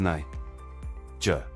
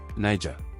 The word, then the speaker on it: Niger: Pronounced as Niger. Niger. The first syllable is pronounced as Ni, rhyming with my.